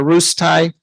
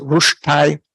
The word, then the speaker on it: ruStai: They made up this ceremony called a rustai, which is rushtai in proper Klingon.